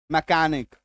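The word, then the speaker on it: mechanic: जब किसी शब्द के बीच में जब किसी शब्द के बीच में सीए आ जाए तो मैक्सिमम टाइम सीएच का उच्चारण क होगा।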